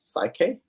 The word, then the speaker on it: PSYCH-K: So the last one's pronounced PSYCH-K.